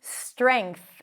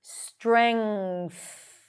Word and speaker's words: strength: Ng sound. and then push the tongue out for the th strength.